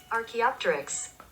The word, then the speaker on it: archaeopteryx: here it is pronunciation it's like this dinosaur archaeopteryx archaeopteryx archaeopteryx archaeopteryx yes archaeopterus is